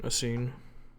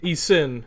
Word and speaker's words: Esin: Sorry, pronounce it right. Asine. Hazel, help me out. Sen. Asin. E-sen. Esin. Yeah. Esin. Yeah.